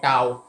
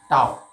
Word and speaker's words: tau: तो यहाँ हम टर्क के लिए टर्क का सिंबल ऐसे लिखते हैं, ये प्रोनाउंसिएशन है टाउ, इसको प्रोनाउंस करते हैं टाउ।